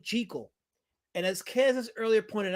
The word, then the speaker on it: Jekyll: Not Jackal and Hide. So, I I guess you weren't here for the first few minutes, but in the 1931 Jackal and Hyde movie, they actually pronounced his name JL.